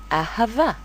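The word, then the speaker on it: אהבה: We have 1 alef and 2 heys. 3 kamatzes. The first kamatz belongs to the alef, the second kamatz to the hey, and the last kamatz belongs to the vet. Therefore, the last hey is silent. It has no vowels of its own.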